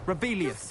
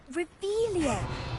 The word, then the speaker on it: Revelio: Rebellious. You're saying it wrong. Ugh, Revelio. Much better.